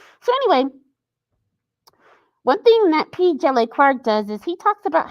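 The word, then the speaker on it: P. Djèlí Clark: The D is silent. It's like Django. So it's P.Dejili Clark.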